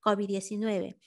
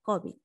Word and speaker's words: COVID: Esta forma sin tilde es la más habitual y corresponde a la pronunciación aguda COVID. Si se pronuncia, ¿no? De forma llana COVID, el resultado de la lexicalización tendría que llevar tilde, COVID-19.